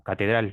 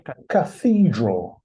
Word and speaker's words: cathedral: La catedral. The Catedral es cathedral. cathedral. Yeah. So it's the same, but with th in English.